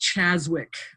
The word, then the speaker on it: Czaszewicz: It's actually just pronounced Czaszewicz.